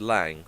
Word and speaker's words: Lang: I thought every time someone said Lang, they were mispronouncing Lane.